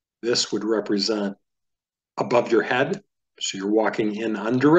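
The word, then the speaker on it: ה: He is pronounced like the H in hair.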